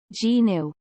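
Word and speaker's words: gnu: kanekiti's terrinus it is also referred to as a new pronounced g-new the class of animals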